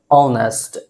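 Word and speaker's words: honest: ईमानदार का इंग्लिश होता क्या है, ऑनेस्ट। जो ये प्रोनाउंसिएशन है ऑनेस्ट, ये ववेल साउंड अ से शुरू हो रहा है, अ से शुरू हो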